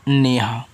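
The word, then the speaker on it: Neha: एन ई एच ए, तो एन से आपका ना, ई से ए की मात्रा ने, एच से आपका हा, ए से आ का मात्रा नेहा।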